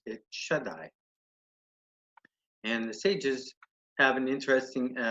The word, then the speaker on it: Shaddai: you'd some people pronounce it differently but we pronounce it Shaddai and sages have an interesting interpretation of this